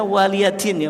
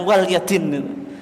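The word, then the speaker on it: وَلِيَ دِينِ: Apa lakum dinukum waliadin itu bacanya waliadin Ya bukan walyadin kalau dulu orang bacanya lakum dinukum Wal Yadin waliadin artinya kalau konteksnya Akidah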